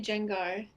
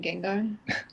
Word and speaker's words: Gengar: think of anybody else I say Gengar I said that for a while and I didn't actually realize I was saying it wrong until Vince is like Oh you mean Gengar and I was like